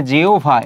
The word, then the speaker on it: জিহ্বা: আর যদি এখানে রস্বইকার থাকে তাহলে কি হবে? এখানে হচ্ছে রস্যু বা হচ্ছে ভ হবে। যেমন আমরা যদি বলি জিহ্বা, তাহলে কি হবে? জিহ্বা, এটি হবে।